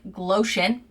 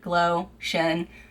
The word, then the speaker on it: Glowtion: It's like Glowtion, like lotion, Glowtion.